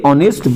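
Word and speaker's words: honest: এবার যাবো নেক্সট, রাম ইজ এ অনেস্ট বয়, রাম হলো একটা সৎ ছেলে। তাহলে অনেস্ট দেখো এইচ দিয়ে শুরু হচ্ছে, এইচ, তাহলে এইচের উচ্চারণ কিন্তু এখানে ভাওয়েলের মতো হচ্ছে, অর মতো হচ্ছে, তাহলে মানেই কিন্তু আমাদের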